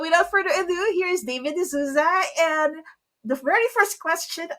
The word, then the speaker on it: De Souza: Sorry, before I do the introduction, now, the reason why I asked for the pronunciation, like in different parts of the world, that OU is pronounced differently.